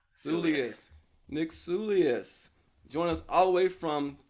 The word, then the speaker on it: Soulias: I'm sorry I didn't I didn't get your pronounced as your last name Julius Julius Nick sullius join us all the way from